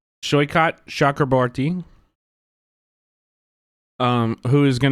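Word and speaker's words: Saikat: So, we've got Shyot, I believe is how you pronounce his name. Shycott Shakurbarti.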